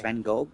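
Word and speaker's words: Van Gogh: Van Go the the I think it's Van Go that's that is pronounced Van Go the the painter.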